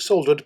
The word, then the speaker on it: soldered: And to paraphrase Eddie Izzard, I pronounce it soldered because there's an L in it.